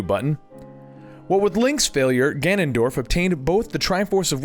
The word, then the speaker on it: Ganondorf: Oh, and I do want to apologize for saying Ganondorf when it's actually Ganondorf, but you know what, it doesn't matter because at this point he's known as Ganon.